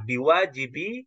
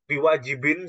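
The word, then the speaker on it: بواجب: ya anilqiami dari melaksanakanwajibiiaika seperti itu bacanya biwajibi Haqi Jadi kenapa kok bukan biwajibin seperti yang dibaca oleh Bapak tadi karena dia posisinya sekarang mudof mudof itu tidak boleh di di ditanwinkan boleh ditanwin jadi hqi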